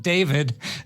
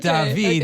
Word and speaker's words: David: As Natalie would know from her 4 years of learning about Paris, it's pronounced not David, but David.